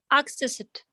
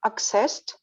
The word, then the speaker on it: accessed: And do you accessed and what is yes, if before if end of the word is not D or T, then we say T. Exactly. exactly. And we eliminate the sound.